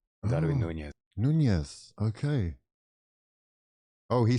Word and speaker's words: Darwin Núñez: So, in Latin American Spanish, okay, his native language, this person is called Darwin Núñez. Darwin Núñez.